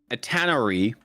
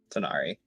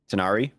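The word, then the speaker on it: tanar'ri: And when it say you believe, it says that it is it tannery. If if that's how you say it. Tinari. Tinari.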